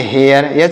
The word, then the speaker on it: hare: HARE, तो इसे क्या पढ़ेंगे, इसे पढ़ेंगे हेयर।